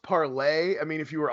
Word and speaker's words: Parler: It's pronounced parlay. I mean, if you were on parlay, you would know it was called parlay.